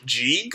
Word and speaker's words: Sieg: Also, I do like the reminder that Sieg is pronounced Jig in the original Japanese, which adds a connection to all of them, to all the Jalals.